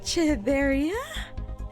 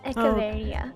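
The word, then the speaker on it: Echeveria: Chavaria. Echavaria. It's kind of like a a K sound.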